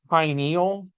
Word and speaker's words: pineal: it differently uh but pineal gland it's as in Pine as in Pine Cone because it's shaped like a little pine cone and it is actually